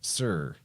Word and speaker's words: Tyre: It's spelled Tyre. Most people will say it's Tyre, but they pronounce that as Sur.